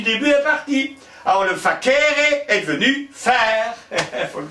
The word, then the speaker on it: facere: Facere, oui, facere, oui. Ah il y avait trois syllabes, facere. Alors quand il y avait trois syllabes, les Romains avaient tendance à insister sur la deuxième. Donc ils disaient facere, facere, oui.